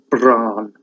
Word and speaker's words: Bran: It's bells, it's just one sound. So Bran, that's why the Welsh are such good singers, because they don't swallow their vowels.